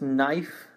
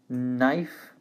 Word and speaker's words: knife: the next one is knife knife to forget that this is a silent k so we only say at the end knife and while knife it's